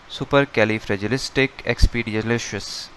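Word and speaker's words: supercalifragilisticexpialidocious: list it is called supercalifragilisticexpedialicious this is a long word and it can be hardly to pronounce so we can break it in another different parts so let's break it super califragilistic expia lodocious once again super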